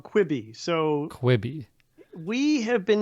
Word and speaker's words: Quibi: because I still haven't figured out how to pronounce this yeah okay well that one I can do this is called kwibi so kwibi we have been hearing about a